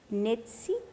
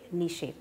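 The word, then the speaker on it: Nietzsche: his name pronounced right the german philosopher nazi i hope nishi thank you he said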